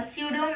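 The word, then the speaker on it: pseudo: है इ called a सूडो matrix प साइलेंट है ठीक है सड मेट्रिक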